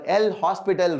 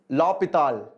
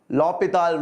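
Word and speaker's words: L'Hôpital: the lh rule or l hospital rule hospital you like tell hospital hosp hospital is very common so you can use that but the actual pronunciation is lopital okay so h is silent l'hopital rule is the right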